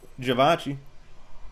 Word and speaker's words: Givenchy: Even though it's supposed to be Je.